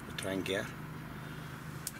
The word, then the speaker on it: Trangia: So, the backup is the Trangia. I believe it's properly pronounced, and that's worked like a dream, nice and quick.